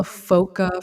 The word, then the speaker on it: foca: be aware yeah so foca is spelled foca and before you know any of the folks in the audience go to Google what foca means uh it's it's baby seal in Portuguese so spoiler alert but that